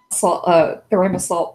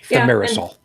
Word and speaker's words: thimerosal: Theramasol, whatever that's pronounced. Thimerosal. Thimerosal. Yay!